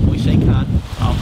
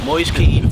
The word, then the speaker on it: Moise Kean: They announced on Sunday that we've signed Moise Keane, not Moise Khan, or anything like that. Moise Keane from Juventus for a fee of 27 minutes.